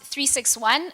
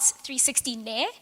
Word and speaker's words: 36One: a brief introduction to 361 so it is pronounced 361 not 360 n as some people call it yeah um so